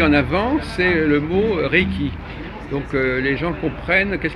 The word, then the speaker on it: Reiki: Alors s'ils ne comprennent pas, en fait Reiki, c'est fait de deux syllabes, Rei, Reiki.